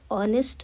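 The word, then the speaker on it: honest: ऑनेस्ट word start होता है H letter से जो कि साइलेंट है। सो the pronunciation starts with vowel sound. ऑनेस्ट। एक वोवेल साउंड से स्टार्ट होता है यह वर्ड।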